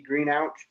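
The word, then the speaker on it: Greenhalgh: letter j letter d green ouch or so g r e e n h a l h so there you go al that's how you say it so and then uh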